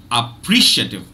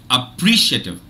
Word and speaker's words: appreciative: doubt so the the the standard British English pronunciation for this word is appreciative appreciative appreciative and now let me